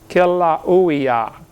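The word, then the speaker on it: Kīlauea: They pronounce every vowel over there in Hawaii. Kilauea, Kilauea-iki, but something like that.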